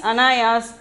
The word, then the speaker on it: अनायास: Anayas, pronunciation is anayas.